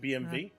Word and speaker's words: BMW: bit more angry but the W they actually pronounce as V so they call it BMV because W is pronounced